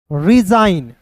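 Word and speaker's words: resign: एन डिजाइन आर ई एस आई जी एन रिजाइन एस आई जी एन तो एस का स आई देखिए आई का उच्चारण आई के रूप में तो आई देखिए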